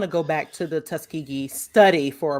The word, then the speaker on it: Tuskegee: Tuskegee, you're right. It's Tuskegee. I said it wrong.